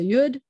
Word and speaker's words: yud: that just know that it's a yud and you pronounce it like a you'd and which is the teeny tiny letter sounds like a like a y and this is the